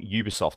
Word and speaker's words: Ubisoft: wrong for saying Ubie no no no it's UB because on the E3 press conference everybody from Ubisoft came out and pronounced it Ubisoft even that you know the comedian they have on stage she's American she was calling it Ubisoft as well they would